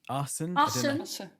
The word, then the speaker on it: Assen: You have a group in, I don't know how you pronounce it. It looks like Assen. Assen. Okay. Pretty good, Olly. Yeah, that's it.